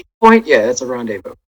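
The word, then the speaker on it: rendezvous: crazy but then she had this randev Rondevu Rondevu that's how you say it revu right Point yeah that's a rendevu right with the count because obviously he took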